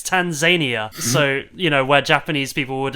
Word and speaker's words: Tanzania: I think one of them told him that like no, it's not pronounced Tanzania, it's Tanzania.